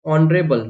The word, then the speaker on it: honorable: तो ऑनरेबल, मैंने आपको बताया जहां पर भी ओ के पहले एच आता है वो साइलेंट होता है, यहाँ पे क्या देगा, ऑनरेबल।